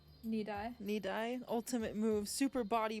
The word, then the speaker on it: Nidai: Nidai.